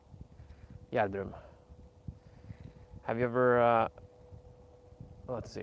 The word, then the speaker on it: Gjerdrum: In Gjerdrum. It's probably the hardest town to pronounce in English. And if I pronounce it in Norwegian, you would have no idea how to spell it. Gjerdrum.